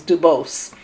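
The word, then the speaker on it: Du Bois: uh and I believe he didn't he didn't like the French pronunciation of his name so it was Duos and he founded the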